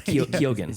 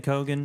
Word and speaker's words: Keoghan: I was looking up how to pronounce his name because we were talking in the pre-show. Oh, is that right? It's Keoghan. Keoghan, okay. Keegan, Kogan. It's Keoghan.